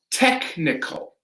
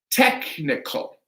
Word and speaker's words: technical: And this one is technical, technical. So with these pronunciations, we are pronouncing a hard K.